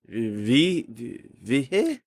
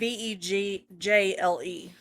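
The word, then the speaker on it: Vejle: Vihe? I don't know. Ville? It's Vegjle.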